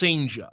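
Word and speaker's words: Cijntje: His name's Durangelo, and I believe the pronunciation I have found is Senja. It's spelled Badass. It's spelled Senja. It's spelled CJINTJE, I think, and it's pronounced Senja.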